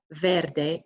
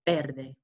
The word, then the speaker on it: verde: that's white negro or negra black greece gray verde green remember be careful with pronunciation our vs are pronounced as bees so it's not verde it's verde and that's golden looks a bit yellow orange